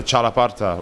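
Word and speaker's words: txalaparta: And so one we play on stage is the chalaparta, which is spelled with a TX, and it's sort of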